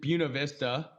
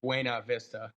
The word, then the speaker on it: Buena Vista: Um, well, I pronounce it just Buuna Vista. Okay. But I think it's it's technically French, so if you want to get fancy, you could say like Buena Vista, but people but people you and the